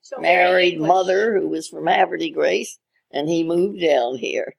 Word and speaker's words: Havre de Grace: Havre de Grace. Havre de Grace. If you're an old native, you say Havre de Grace. Yeah. Even Webster's Unabridged Dictionary said that the pronunciation was Havre de Grace.